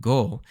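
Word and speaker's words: 五: with we go and the number five in Japanese is pronounced go so it's literally counting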